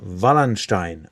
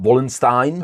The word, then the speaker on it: Wallenstein: age, it is a guy called Albrecht von Wallenstein, or Albrecht z Waldsteina in Czech.